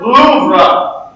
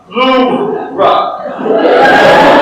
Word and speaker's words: Louvre: It's pronounced Louvre. Louvre.